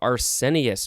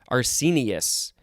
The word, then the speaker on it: arsenious: Now we have Arsenius. No, it's Arsenius. Arsenious.